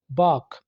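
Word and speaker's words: balk: बाक, ठीक है? रुकावट डालना, इसमें एल को आपने साइलेंट रखना है, बाल्क नहीं बोलना।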